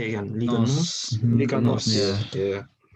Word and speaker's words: Liga NOS: Liga Nos.